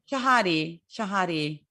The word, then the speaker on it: Shahade: Shahade. Yeah. A lot of people do it Shahade or Shahad, but nope, it is Shahade. Rhymes with body.